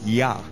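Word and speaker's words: Jah: why the word J J ah H is pronounced as yah which is a name for God and for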